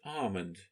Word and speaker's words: almond: draw your attention to the word almond no sound L again same as calmness that I've mentioned before the exercise number six